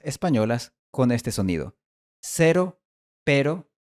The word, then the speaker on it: pero: Si has logrado mantener el mismo sonido durante todo este tiempo, ahora puedes pronunciar este sonido del español en las palabras cero y pero.